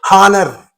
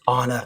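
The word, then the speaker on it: honour: but you are saying honor. That means you are pronouncing the word from O. And here this H is there but it is silent because you are not pronouncing that letter and you are pronouncing the word from O.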